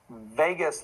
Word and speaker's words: vagus: vagus nerve is the the word vegas is pronounced vegas like lost las vegas but it's vegas like vagabond um and the word vagabond comes